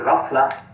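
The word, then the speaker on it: ghaflah: referred to as the rafa the gh sound is pronounced roughly like the french r it's a kind of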